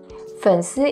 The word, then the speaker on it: 粉丝: Because the 粉丝, the pronunciation of fans in English is close to 粉丝 in Chinese.